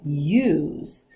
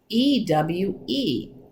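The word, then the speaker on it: ewe: female sheep are called use all right and for those of you who spell it's not like you y-o-u like can you come here it's e-w-e ew but it sounds the same and baby sheep are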